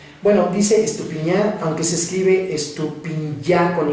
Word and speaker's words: Estupinyá: encontrarme por las redes sociales y bueno dice estupiñán aunque se escribe estupillar con y para que este lo